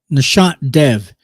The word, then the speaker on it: Nishant Dev: Nishant Dev is how you pronounce his name.